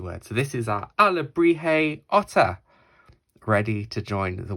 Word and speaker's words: alebrije: j in it it might look difficult to pronounce but our Liberty is a word so this is our ala brijay otter ready to join the world of Coco